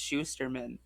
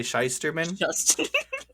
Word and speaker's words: Shusterman: you on the title but it's Schusterman what did I say shysterman sauce yes that one um but no yes Schusterman did I say it right that time yeah Neil Shusterman there